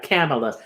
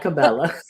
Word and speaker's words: Kamala: Kamala, not Cabela. Kamala. You don't I'm even know like, my I'm shot like, bracket though. I'm like, views of you told me how to say it. I said, because I said in the beginning, they said her name so many different ways that I don't know how to say it. And then a views of you is, she said, it's like Pamela with a K.